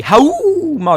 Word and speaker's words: Haohmaru: are on to the homo to mirror matches and I have to say it that way it's impossible to say how normally because that's how they say it in Sam's show all right the way